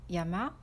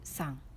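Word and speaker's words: 山: Ce kanji signifie une montagne et ça se prononce comme yama ou san.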